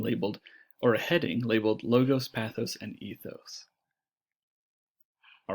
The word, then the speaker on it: logos: That's logos, kind of with do you hear there's sort of a Z sound at the end of that word? Instead, we're talking about logos, which has more of a normal S sound at the end.